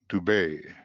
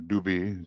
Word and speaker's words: Dubhe: And this is the Leo star, Dubhe, or Dubi, depends on how you're pronouncing it.